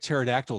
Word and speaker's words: pterodactyl: google i think quiet pterodactyl is a very uh yeah really odd was not previously taken by any entity and remember kids the p is silent yes the p should